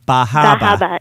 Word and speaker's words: Bar Harbor: which which is pronounced bahaba and so uh yeah so you know because the r is often dropped yeah in meain yeah